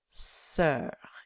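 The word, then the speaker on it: sœur: very important pronunciation sosser sir it sounds like the English word sir si R so don't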